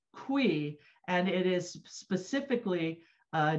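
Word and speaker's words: cuy: see the name they're using here c-u-y is pronounced qui and it is specifically uh designated as the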